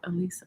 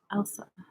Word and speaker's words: Elsa: Why did I say Elisa? I don't know. Elsa, is that right, David? Elsa.